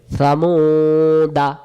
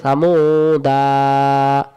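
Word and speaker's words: ثمودا: এটা কি বাদ তহলে এটাকে বলা হয় অতিরিক্ত আলিফ সামুদা বা চলে গেল আর যদি আমি বলি সামুদা এটা উচ্চারণ হয়ে গেল তাহলে যে আলিফের উপরে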